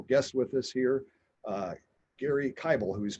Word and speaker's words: Gary Kibel: with us here uh gary kybel who's pronounced like bible uh gary's with the